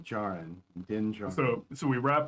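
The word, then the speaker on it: Djarin: of didn't join them it's with a silent d jaren dingell so so we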